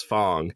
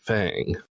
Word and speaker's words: Fang: I almost accidentally pronounced Fang as Fong because mdy Grace kept pronouncing it like that even though the characters in the game pronounce it Fang sorry to call you